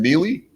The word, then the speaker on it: Neligh: County Park and here in Neely, which is spelled Neligh.